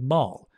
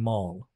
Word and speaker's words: mall: it's a nice word whoops maul well some people say mal mal mall there are different ways of pronouncing it i say a shopping mall shopping mall okay um good oh wait